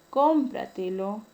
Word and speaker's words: cómpratelo: La palabra cómpratelo, la mayor fuerza de voz está ubicada en la tras antepenúltima sílaba.